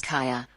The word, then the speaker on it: Kaja: And My daughter's name is Kaja. yeah, instead you want My to daughter's say, name is Kaya.